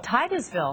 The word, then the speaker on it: Titusville: Titusville. Titusville.